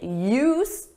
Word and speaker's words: used: And for that we need use. With AD, you don't hear it in pronunciation but is there in spelling.